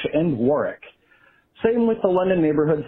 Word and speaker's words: Warwick: wark, or something similar, usually the final W is silent. For example, a couple cities with famous castles that look like they should be pronounced Norwich and Warwick are actually pronounced Norwich and Warwick.